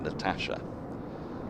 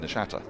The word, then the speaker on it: Natasha: And she had a sort of a nickname when she was playing because Lydia Greenway mispronounced her first name, Natasha, and transposed the T and the CH. So she became Nashata.